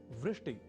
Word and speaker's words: वृष्टि: एक शब्द है वृष्टि या वृष्टिह। पर कभी-कभी हम में से कुछ व इस अक्षर का उच्चारण ब के रूप में कर दिया करते हैं। और वे बोल जाते हैं वृष्टि या वृष्टिह।